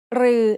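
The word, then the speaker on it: ฤๅ: รือ is pronounced like a combination of รอเรือ and the long vowel สระอือ They are both written like the letter ถอถุง with an extra long line.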